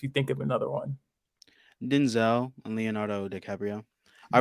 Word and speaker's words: Denzel: I think it's actually pronounced Denzel. Yeah, it's Denzel and Leonardo DiCaprio.